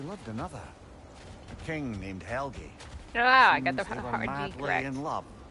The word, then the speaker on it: Helgi: A king named Helgi.